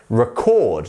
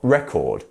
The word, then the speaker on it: record: to record a song where is the stress in this word here is it in the first syllable no it's the the second one right record not record record why is it